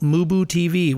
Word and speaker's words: MuBu TV: all ending with the handle mooboo TV which is spelled m-u-b-u-t-v don't forget to catch